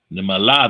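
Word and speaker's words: נמלה: Nimala, that is the ant. Nimala. Takes 4 letters to say ant in Hebrew. 3 syllables to say ant in Ivrit.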